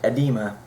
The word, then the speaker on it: edema: for this is um spelled e d m a uh edema I I I believe is a pronunciation um but you can